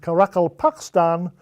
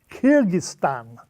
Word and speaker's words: Kyrgyzstan: No, Kyrgyzstan, I replied, trying to wrap my tongue around the challenging Russian vowel "i" in the first and second syllables.